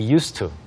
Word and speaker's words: used to: 그렇지만 이렇게 쓸 때에는 S 발음이에요. used to.